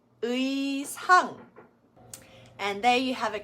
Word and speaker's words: 의상: So it's not 애자 or 애상. It does need to be said as 의자, 의상.